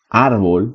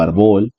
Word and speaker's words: árbol: al decir corazón que una palabra grave suena más fuerte en la penúltima sílaba como al decir por ejemplo árbol por poner una palabra muy muy simple árbol no árbol que sería agudo así si lo digo arbol y las esdrújulas siempre